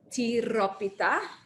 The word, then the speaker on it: tiropita: much there it is called tiropita can everybody say that with me please you have to roll your r pita in greece uh